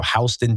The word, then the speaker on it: Houston: It's spelled Houston, but we're not allowed to say that. So Houston, Delaware, definitely outside the sun.